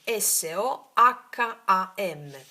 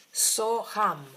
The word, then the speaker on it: Soham: Soham si scrive così. S o h a m. Soham.